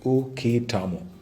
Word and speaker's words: uketamo: Pronounced as uketamo.